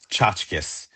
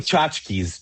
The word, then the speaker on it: Chachkis: Chachkis. Like Chachkis. tchotchkes, like little things. Yeah, but Yeah. ch say it again. Tchotchkes. Say tchotchkes is fine. Is It's that no really problem. it? Chachkis?